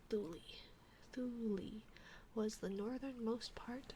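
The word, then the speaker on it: Thule: a shm let's see I wonder how what is it yeah it is pronounce thuli thuli was the northernmost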